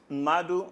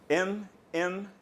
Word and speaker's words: Mmadu: My name is Mmadu. Spell it. Okay, Mmadu is M-M-A-D-U.